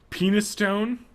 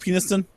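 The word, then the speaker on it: Penistone: Penis Stone. I've heard of that one before. Isn't it pronounced Peniston?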